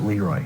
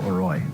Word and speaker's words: LeRoy: Caledonia, Mumford, probably the only towns that pronounce it LeRoy and not LeRoy. Yeah, because it rhymes better with destroy Leroy.